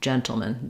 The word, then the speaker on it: gentleman: But when we change to gentleman, we end up with a reduced vowel in that final syllable. In the dictionary, you might see it like this, or like this, or even like this, no vowel, gentleman, gentleman.